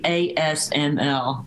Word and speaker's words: ASML: the dutch do but it's actually asml that's why we've taken on the dutch pronunciation of that fair enough i appreciate